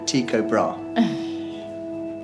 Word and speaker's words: Tycho Brahe: You could pronounce it in many different ways, but the average seems to be Tycho Brahe.